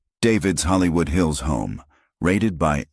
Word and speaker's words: D4VD: David's Hollywood Hills home raided by LAPD. But will it lead to an arrest? By now, you've heard the name D4VD, pronounced David.